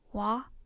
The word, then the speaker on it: は: Wa is the topic marker. Because it acts as a particle, it is pronounced wa.